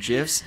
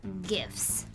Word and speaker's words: GIF: They're pronounced GIFs. They're not gifts, Tanya. That sounds like you're giving someone a present. Well, it's not gifs. That sounds like they're made of peanut butter.